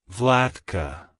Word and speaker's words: Vlatka: ruler it's pronounced as vlatka vlatka vlatka to pronounce it correctly emphasize the vla sound and the C at